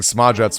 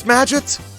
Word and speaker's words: Smadget: Wait, it rhymes with gadget? And it is Smadget?